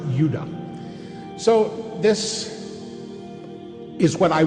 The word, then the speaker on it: Judah: More properly pronounced Judah.